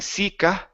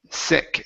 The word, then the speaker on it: sick: Instead of saying sika, okay, it's sick. Short I and take off the sound at the end.